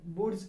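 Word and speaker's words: Wurtz: First year के बच्चे इसको पढ़ते हैं वोल्टेज अभिक्रिया। दिस इज नॉट वोल्टेज अभिक्रिया, दैट इज कॉल्ड वुड्स अभिक्रिया।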